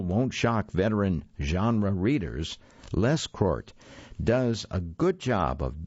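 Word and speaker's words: Lescroart: by john t leschkart i'm going to spell that name for you because i'm not completely sure i'm pronouncing it correctly it's l-e-s-c-r-o-a-r-t john t les court sounds like a good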